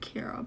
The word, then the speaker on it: Ciara: you pronounce your name it's spelled Kiara but you pronounce it Kiara but honestly if you